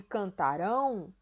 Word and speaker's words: cantarão: Então, quando eu digo aí, ó, cantaram e cantarão, é diferente, a minha pronúncia é diferente.